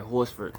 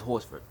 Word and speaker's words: Horsford: And I hope that's I'm pronouncing that right, Horsford, and maybe it's not Horford and the S is silent. I believe it's Horsford.